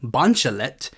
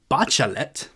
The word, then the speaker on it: Bachelet: At one point, I kept referring to the former socialist president of Chile as Michel Bachelet, but it is actually Bachelet.